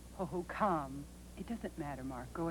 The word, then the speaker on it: Hohokam: I believe that tribe's name is pronounced Hohokam.